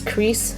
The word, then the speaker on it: Kreis: here is the layer Christ Satan or some people might also pronounce this as crease Satan but I like the way chry Satan uh sounds and this is a